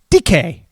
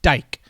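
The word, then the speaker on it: Dike: The wide receiver Chamir DK is how you pronounce it. It's not pronounced dyke.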